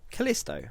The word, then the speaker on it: Callisto: Callisto.